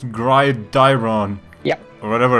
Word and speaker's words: Gridiron: It's not Grydon, it's Grydiron.